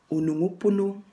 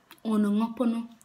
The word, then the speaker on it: Onongopono: So this is how you pronounce it. Onongopono. Onongopono. Onongopono. Onongopono.